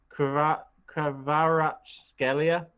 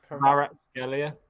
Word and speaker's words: Kvaratskhelia: But to be fair, it's actually written not far from how it should be pronounced. I think because it's like Kvaratskhelia. Yeah, Kvaratskhelia. Kvaratskhelia.